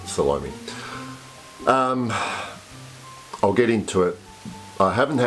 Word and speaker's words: Salome: I pronounce it Salome.